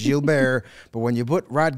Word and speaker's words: Rod Gilbert: It's Gilbert. But when you put Rod Gilbert on a piece of paper in Chicago, it's going to get pronounced Rod Gilbert, not Rod Gilbert.